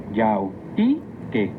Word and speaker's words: yautique: Recuerda que en el náhuatl las palabras se acentúan en la penúltima sílaba. Yautique.